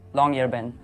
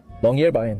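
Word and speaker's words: Longyearbyen: That's how you pronounce longer ben. Longerbay.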